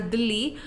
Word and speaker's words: Delhi: said about the city Delhi Delhi is basically the one I'm talking about is New Delhi that is the capital of India and it's been basically pronounced as uh in as dilhi and it is the